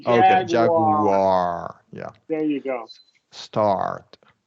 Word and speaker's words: Jaguar: I want you to I want to hear that r at the end of the word Jag Jaguar yeah there you go